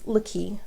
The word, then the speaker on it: Laki: And I said, "It's Laki." Now, mind you, there are only 4 letters in my name. It's spelled L-A, capital K-I.